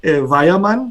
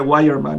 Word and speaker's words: Weyermann: hace una buena pregunta en alemán se dice vaya mal porque la w se pronuncia como una vez para nosotros por una en inglés sería guay hermán y yo creo que en español todo el